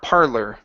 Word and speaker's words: parlor: last one here parlor give me an e r parlor parlor uh-huh with an ER just like you're saying her look at her parlor